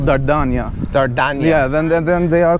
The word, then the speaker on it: Dardania: Don't have Kosovo is like Slavic pronunciation, but the name in Albanian or the name of land is called Dardania. Dardania.